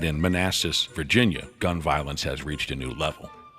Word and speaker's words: Manassas: where we're heading next man asses I don't think I that's how you pronounce it well what is it I believe it's Manassas oh Manassas okay you really put an